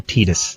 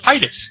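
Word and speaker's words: Tidus: X, or everybody's like Titus, and everybody's like, no, Titus, and it's like, no, it's Titus. That's how it's pronounced. That's an I.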